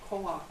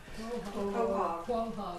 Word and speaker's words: quahog: Coak. I never say it right. Quahog. Quahog. I gotta remember hog part.